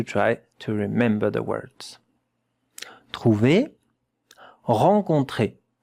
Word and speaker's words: trouver: With two syllables. When there is a point, yeah, a dot, it means it's another syllable.